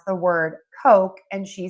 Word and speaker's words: Coke: In American English, we use the very long O. Coke. Coke. Coke and you can see I am moving my mouth or that long O and so when I move my mouth that makes the vowel sound a lot longer.